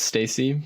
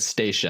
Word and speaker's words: Stacy: Stacy now Stacy I know it's Stacy because I totally butchered your name when we went to publish your episode it said Stacia and I even said that when we started the interview I said Stacia and I was like